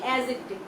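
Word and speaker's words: adjective: এখানে দেখো আমরা বলে থাকি হচ্ছে অ্যাডজেক্টিভ, কিন্তু তুমি যখন উচ্চারণ করবে এই ডিটা উচ্চারিত হবে না, তুমি সঠিক উচ্চারণ হচ্ছে অ্যাডজেক্টিভ।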